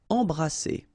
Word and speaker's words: embrasser: Embrasser. All right, and then double S here, it's S. Embrasser.